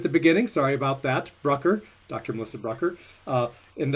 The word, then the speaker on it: Brucker: you melissa hopefully maybe sorry i think i mispronounced your name at the beginning sorry about that brucker dr melissa brucker uh and uh hopefully maybe